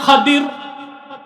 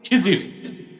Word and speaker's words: খাদির: উচ্চারণটা কি? খাদির, বিফাতহিল খা ওয়া কাসরিদ দাল, খাদির। না, আমাদের দেশের লোক বলে কি খিজির, এটা ভুল উচ্চারণ, শুদ্ধ উচ্চারণ কি? খাদির।